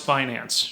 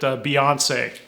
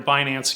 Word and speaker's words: Binance: know how to pronounce Binance. She called it Beyonce. It's like, come on, it rhymes with finance, like clearly you are